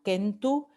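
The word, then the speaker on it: centum: En latín kentu, esto se pronunciaba kentu, en español el número ciento, en italiano cento, en francés cent y en inglés cent.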